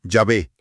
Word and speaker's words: Yahvé: La mayoría de los eruditos favorecen Yahvé. Sí, como la reconstrucción más probable y filológicamente correcta de la pronunciación original.